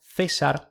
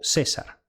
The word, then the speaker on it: Caesar: De forma similar, el nombre del autor del texto, Caesar, se leería César o César, y el del más famoso orador, Cícero, Cícero o Cícero.